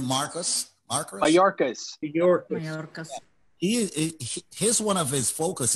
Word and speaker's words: Mayorkas: the individual that Alan E.K., how do you pronounce his name? Mayorkas.